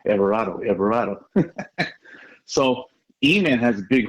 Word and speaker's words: Everardo: Because, most people don't know how to say his name, Everardo.